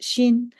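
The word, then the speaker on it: 心: And then the bottom half of the character for zhi is the character that means the heart, or pronounced xin.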